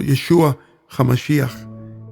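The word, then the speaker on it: ישוע המשיח: es Jesús el Cristo yeshua hamashia como se pronuncia ese Santo nombre en el idioma original el hebreo como podremos ver a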